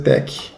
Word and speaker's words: TeX: vamos passar então aqui o que quer dizer tec porque esse nome tec ele escolheu do grego né e ele ensina que a pronúncia técnica não vai falar sexy eu não